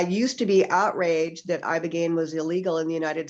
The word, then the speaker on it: ibogaine: Yes, it's ibogaine, and it's spelled ibogaine.